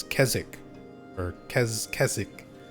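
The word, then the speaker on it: Keswick: I always say Kezwick. People actually from there always correct me and say it's it's Kzzik or Kez Kzzik. You don't really pronounce the W.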